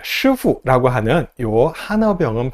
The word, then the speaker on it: 师傅: 쿵푸팬더를 보면은 10 나옵니다 10호 10호가 뭐죠 예 슈후라고 하는요 하나 병은 발음을 그냥 영어식으로 10%라고 읽어서이 캐릭터의 이름이 시프가 되었습니다 스승님이란 뜻이에요 사부님이란 뜻이에요 쿵푸팬더가 맨날 수후하고